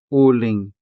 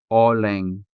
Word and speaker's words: uling: Another example of a native word would be uling uling which means charcoal. uling uling So, we never say oling because this is a native word, and so it is represented by native vowel sounds.